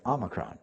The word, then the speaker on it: Omicron: If you listen to the news, there are some people, especially the physicians now, and the scientists are calling the variant Omicron, which is the proper pronunciation.